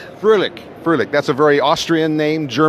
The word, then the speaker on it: Froehlich: I don't know, we discussed why we'd never met before, and it is Thomas, now you pronounced it, Froehlich? Froehlich.